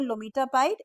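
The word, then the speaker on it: lomitapide: So remember lometapide, MTP. How does it? So it has M, T and P. Metapide. So it rhymes with MTP.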